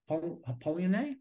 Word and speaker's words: Polanyi: I mean, like, I've been pouring my heart into reading Michael Polanyi.